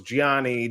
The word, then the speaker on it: Gianni: the projects you're getting into but let's uh Gianni if you could uh am I saying your